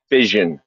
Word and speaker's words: vision: no i think you're trying to say vision yeah yeah it's not iss ion yes yes that exactly